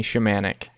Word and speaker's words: Shimanek: guest today yes my name is shamanic yeah with the pronunciation was correct so yes it's Gail did